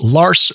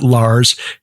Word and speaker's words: Lars: And I am now reliably informed because I bothered to read his website that his the correct pronunciation of his first name is Lars, not Lars, and he was very gracious in not correcting me the last time we spoke.